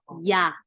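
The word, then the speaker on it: ㅑ: First one we pronounce ya. Ya. like Arabic, yeah, right?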